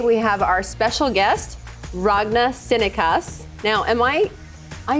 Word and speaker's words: Ragne: start are you range i'm like i am ragna that you know that's how i'm going to pronounce it from now on exactly perfect and